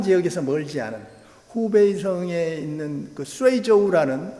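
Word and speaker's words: 隨州: 그 묘가 바로 후베이성 아까 우한 지역에서 멀지 않은 후베이성에 있는 쇠이저우라는 수주, 우리 한국 발음은 수주입니다만은 쇠이저우 시에서 발굴된 증후을묘라는 게, 이게 1979년인가 발굴이 됐을 텐데, 증후는 뭐냐면 증나라 이름입니다.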